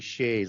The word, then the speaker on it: Sidhe: They're called fairy shays. That's in English Sidhe, pronounced shay, just as shay is also understood as a spirit.